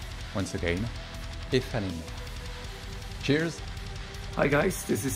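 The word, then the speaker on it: Aephanemer: Hello, this is how you should pronounce the name of our band. Ifanim. Once again, Ifanim.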